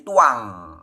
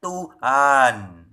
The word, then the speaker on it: Tuhan: Nah, begitupun ketika orang-orang ini membaca kata tuan, bunyinya bukan tuan tapi jadi tuang. Nah, atas inisiatif Melchior Letsdecker supaya N-nya bisa terbaca, maka ditambahilah huruf H di tengah-tengah. Disisipin huruf H. Jadinya bacanya Tuhan. Kalau tidak ada huruf H-nya, mereka bacanya tuang. Begitu ada huruf H, mereka bacanya Tuhan.